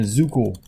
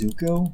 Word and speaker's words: Zuko: They call him Zukul. It's like Zukul. They say with an O. They found a way to mispronounce Zuko.